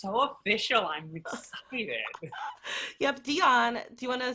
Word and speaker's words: Djon: So my name, Djon, is spelled D-J-O-N, no I, said like Celine, not like the mustard.